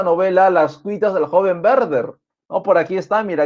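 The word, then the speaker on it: Werther: del joven verde ya no huerter Ah si no se escribe Así sí huerto pero se lee verde ya la W va a sonar como una V en el Alemán verde tenemos por aquí rimas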